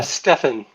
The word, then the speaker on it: Stephan: Um Stefan thank you Stephan. rhymes with ENA.